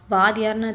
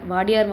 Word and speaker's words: Wadiyar: நான் அந்த பழைய வீடியோவில் வந்து பார்த்திங்கன்னா வாதியார்னு தப்பாக ப்ரொனவுன்ஸ் பண்ணிட்டேன். ஆக்சுவலி அது வந்து வாடியார் வம்சாவளியில் வந்த மன்னர்கள் தான் வந்து பார்த்திங்கன்னா இந்த ஏரியாவையும் இந்த லொக்காலிட்டியும் வந்து டெவலப் பண்ணியிருக்காங்க.